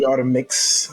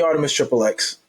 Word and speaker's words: Artemis Triple X: It's your boy here, the Artemis Triple X, aka the Artemix. I don't know why people pronounce it like that, but it's the Artemis Triple X, also known as Artemis.